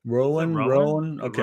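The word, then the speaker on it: Chappell Roan: And anyway, since Chappell, what is her name pronounced like? Rowan? Chappell Rowan? Rowan. Okay.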